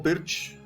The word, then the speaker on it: Pirc: after knight c3, g6, this is the perk defense, or pirch, some people say. I'll have to ask Hans Stein, a very knowledgeable guy about chess openings, what the correct pronunciation is, but I think most of us say perk.